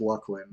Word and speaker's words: Luckland: But hey, the right answer is Luckland, the way I'm saying it. Official, correct.